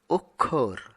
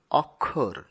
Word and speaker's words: অক্ষর: তারপরে রয়েছে অক্ষর। এই শব্দটিকে আমরা অনেক সময় অক্ষর এরকম উচ্চারণ করি, যা সঠিক নয়।